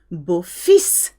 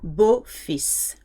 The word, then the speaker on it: beau-fils: Beau-fils. So you do hear the S here.